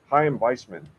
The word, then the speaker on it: Chaim Weizmann: So, for instance, the Chaim Weizmann, is that how you say his name?